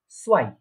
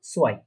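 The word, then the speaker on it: zwei: তো তাহলে এটা কি উচ্চারণ হচ্ছে, প্রোনাউন্সিয়েশনটা কি হচ্ছে, আইনস। ঠিক আছে, তারপরে 2 বা 2 কে বলা হয় সোয়াই, সোয়াই, 2 কে বলা হচ্ছে সোয়াই।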